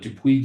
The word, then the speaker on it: Dupuis: In Europe, you're working with Dupuis, is it pronounced? Dupuis, yes, Dupuis.